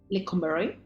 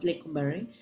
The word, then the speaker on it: Lecumberri: Así que la palabra joto tiene su origen en los años o en el año de 1900 cuando existía la cárcel de Lecumberri. ¿La pronuncié bien?